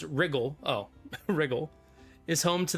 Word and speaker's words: Riel: The county of Riel, pronounced Wrigle.